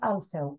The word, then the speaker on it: also: But it is also not a, not also, also, it's an o sound. The writing, the spelling is a, but it's o.